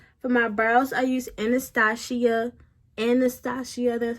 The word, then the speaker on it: Anastasia: For my brows, I use Anastasia, that's how you say it.